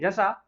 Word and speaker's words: Russia: ठीक है, इसका राइट प्रोनाउंसिएशन क्या है? रसा। आप लोग रसिया भी बोलिए, कोई प्रॉब्लम नहीं है।